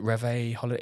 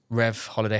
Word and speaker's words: Rev Holiday: You've got a brand called, is it Reve Holiday? Is that how I pronounce it? Yeah, Rev Holiday Homes.